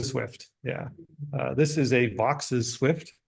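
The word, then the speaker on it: Vaux's: Yeah, this is a Vox's swift, which for many years I called a Vaux swift because it looks like that's how you would pronounce it. It's VAUX''S. I have been told it is Vox's by people who sounded more sure of themselves than people who told me it was Vaux.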